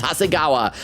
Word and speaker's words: Hasegawa: It's Hasegawa.